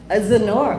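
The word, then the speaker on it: Xenore: It's spelled so beautifully. Is that Zenor? X E N O R E. Zenor.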